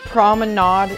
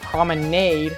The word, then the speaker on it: Promenade: Paris Promenade is next at number 33. Not promenade, but promenade. That's how it's pronounced.